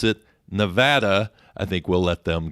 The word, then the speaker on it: Nevada: It is a Spanish word, and as a Spanish word, it means snow-capped, and it's pronounced Nevada.